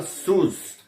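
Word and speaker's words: σῦς: No grego antigo se pronunciava sus.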